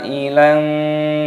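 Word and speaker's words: عَائِلًا: Wa wajadaka 'ailan, mad wajib muttasil dibaca 6 harokat, 6 ketukan.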